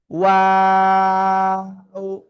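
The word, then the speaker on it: واو: দেখেন, ওয়াও এরকম বলা যাবে না, জাস্ট সিম্পল ওয়াও। ঠিক আছে, তিন আলিফ টান।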